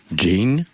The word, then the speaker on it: Jeane: m'avez repris l'autre fois c'est la prononciation de votre prénom Jane oui Jane tonic je peux vous